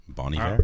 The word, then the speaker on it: Bon Iver: Wait, is that how you actually pronounce that band? Bon Iver, yeah.